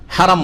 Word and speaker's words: হারাম: না বলে কি বলবেন হারাম বলবেন হারামি হারাম শুদ্ধ উচ্চারণ হেরেম নয় হেরেম শরীফ আল মসজিদুল